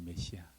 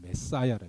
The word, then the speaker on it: 메시아: 메시아. 정확한 발음은 메사야라, 메사야. 메시아나 메사야는 똑같은 겁니다, 여러분.